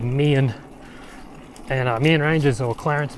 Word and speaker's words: Meehan: And Meehan is how it looks like it's spelt, but it's actually called Meehan.